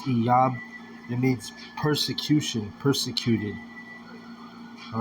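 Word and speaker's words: אִיּוֹב: So, Job, that name Job, when you look into it in the Hebrew, it's Iyab. It's pronounced Iyab.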